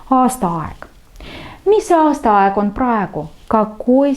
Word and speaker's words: aastaaeg: Aastaaeg. Aastaaeg. Время года. Ударение. И на первое слово aasta, и на второе слово aeg. Aastaaeg.